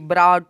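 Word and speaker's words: brought: BROUGST, ब्राउट।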